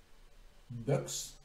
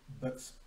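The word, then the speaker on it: Boeckx: Mr. Frank Boecks, I would say. B-O-E-C-K-X. Boecks.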